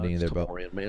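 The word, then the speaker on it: Tamorrion: Tamorian, man. It's got to be Tamorian, right? There's no E in his name. I know it says to pronounce it Tamarian, but there's no E there.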